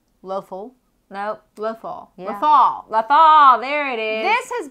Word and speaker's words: Lothal: So we see, first time we see in live action is writer Azadi, who's now the governor of Lothal. Yeah, Lothal. Lothal? Nope. Lothal. Yeah. Lothal. Lothal, there it is.